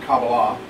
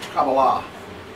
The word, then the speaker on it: Kabbalah: No, it's, well, I know, but if you go online, you can hear Jewish scholars saying the word properly. It's Kabbalah. It's Kabbalah.